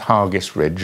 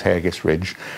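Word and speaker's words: Hergest Ridge: And Hargis Ridge, I'm told it's pronounced Hargis Ridge. I thought it was Hargis Ridge, just outside Kington.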